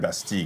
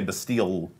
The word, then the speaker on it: Bastille: Because it's a French word, Bastille.